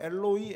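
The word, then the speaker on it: Eloi: 때문에 그 발음 자체가 원래 정확한 발음의 엘로이 엘로이 이렇게 되는 건데 어쨌든 그 발음 자체가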